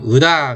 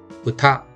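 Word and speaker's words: うた: 그러면 으다 그렇게 하면 안 되고요. 으타 노래라는 뜻인데 으다가 아니라 으타 혹은 으다 이렇게 발음하셔도 돼요.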